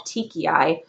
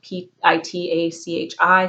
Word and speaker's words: petechiae: He has something, it's called petechiae. It's not how it's spelled. It's like Pitachi, something like that.